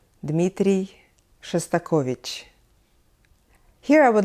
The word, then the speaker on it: Dmitri Shostakovich: name a very famous russian and soviet composer Dmitri Shostakovich Dmitri Shostakovich here I would like to take a little